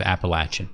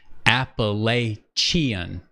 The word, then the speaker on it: Appalachian: then now she has sounded it out phonetically Apple lay chian appellation it's Appalachian apple and I know what you mean appellation I hear that Appalachian Appalachian mountain chain some people say Appalachia